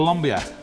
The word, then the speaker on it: Andean: Le Funnies: la quercia andina Questa è la sola e unica quercia andina. Pronunciata an-dee-uhn Ok.